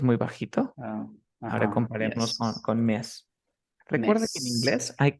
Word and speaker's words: Ms.: Entonces tú pronuncias como mes en español, mes, pero la última es una Z.